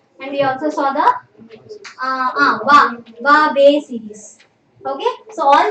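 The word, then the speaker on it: は: The pronunciation of ha. It also has another pronunciation of va. Okay, so where do you use va? When used as a particle, you use it as va.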